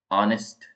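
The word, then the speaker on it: honest: यूज नहीं होता है नेक्स्ट है ऑनेस्ट ऑनेस्ट का अंदर एच साइलेंट है वैसे ही है आइलैंड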